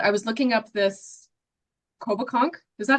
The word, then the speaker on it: Coboconk: Um, but I was looking up this Coboconk. Is that how you say it? Yep. Coboconk or Kobe if you spent some Or time the there.